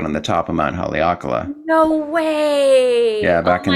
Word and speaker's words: Haleakala: Um, Haleakala. is that how you say it? Yeah. Wait, how to say it again? Haleakala.